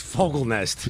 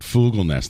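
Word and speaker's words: Fogelnest: however pronounce his name it's fogl Nest is it yeah I know it's 1 but then last night at the show uh sharpling pronounced it fugl Ness maybe he was messing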